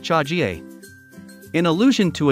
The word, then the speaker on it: chaga: The Russian term for mushroom, zaga, which comes from the word for fungus, is the source of the name chaga, pronounced chagie.